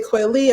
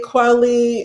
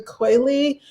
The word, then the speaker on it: Kweli: we took it down i say coily i don't say quality anymore when people say kwali i you know i may not say anything it just depends on you know what i'm in but typically for like if for like if i'm a speaking or if i'm like doing an interview i will say hey it's actually quality but if it's just